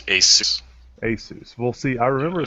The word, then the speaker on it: ASUS: uh I think and every body has a different way of pronouncing the name I want to say it's assus but I've always called him Asus how I call him ASUS ASUS okay this is how they